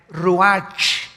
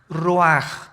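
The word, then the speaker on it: רוח: Que se escribe r u a c h, ruaj, en el hebreo. Y se pronuncia igual, ruaj.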